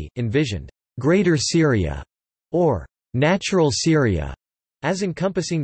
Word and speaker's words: Sūriya: The classical Arabic pronunciation of Syria is Syria, as opposed to the modern standard Arabic pronunciation Syria.